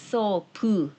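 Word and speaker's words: ソープ: It's sopu, u at the end.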